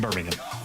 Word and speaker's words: Birmingham: And it is, you say it right, it's Birmingham. Not not Birmingham. Not Birmingham. There's no there's no bo don't no pork involved. It's it's Birmingham Birmingham.